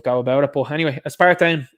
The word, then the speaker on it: aspartame: Yeah, it's aspartame is how they say it.